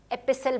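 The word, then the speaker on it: epistle: basically pills कहते हैं यहां टी साइलेंस है क्योंकि टी साइलेंट है क्योंकि जब इस तरह के वर्ड्स होते हैं इनमें कुछ साइलेंट होते हैं लेटर्स तो इसमें टी साइलेंट है इसलिए आप इसको एपिसल बोलेंगे so this is basically N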